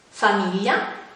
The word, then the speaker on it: famiglia: gl 14enne è seguito dalle reti rai si pronuncia il come questi esempi famiglia figli io invece con le altri vocali si